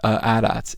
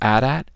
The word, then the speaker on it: AT-AT: You can blame the AT-ATs. It is AT-AT. Stop telling me how do you pronounce ATST. It's AT-AT and ATST and IG-88, but it is AT-AT.